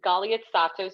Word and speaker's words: Galiatsatos: And yes, it's Galiatsatos. You literally just pronounce every letter.